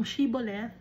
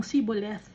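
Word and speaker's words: shibboleth: isang word like itong shiboleth pag nagsabi ang mga eephremites ng siboleth no imbis na shiboleth huli na agad o talo kayo um mamamatay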